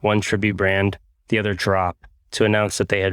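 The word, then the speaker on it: Draup: you think it is it's spelled d-r-a-u-p pronounced drop but spelled to carly's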